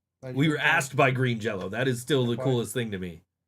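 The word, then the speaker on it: Green Jellÿ: It has always been Green Jello. It is spelled with a Y, but it's got an umlaut over it, and the umlaut makes the Y an O for some reason.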